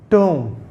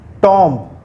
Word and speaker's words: tomb: And the word, this is tomb. It's not tomb.